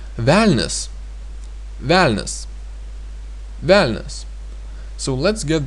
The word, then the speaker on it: velnias: Then we have again a soft consonant n and s, because a is pronounced like e, and that means we have a soft consonants and the ending s.